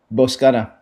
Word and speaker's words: Boscana: Gabe, and I want to make sure I'm pronouncing this right. Is it Boscana? Boscana.